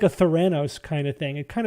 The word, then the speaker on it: Theranos: So you're mispronouncing Thanos. No, not Thanos. Theranos. Yeah, it does sound not like Thanos.